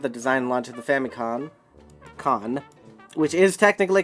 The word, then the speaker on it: Famicom: design launch of the famicon con which is technically correct because it's called family because the n syllable is just an n which you can read as an m as well uh read game over